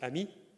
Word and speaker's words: AMI: We actually pronounce it amii which means friend in French and and this is the word that we use instead of agi.